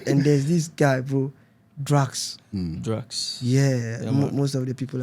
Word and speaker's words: Dracx: The name is Drax, right? Drax. How is it spelled? DRACX. Yeah. Okay. Yeah, Drax. That's how it's spelled.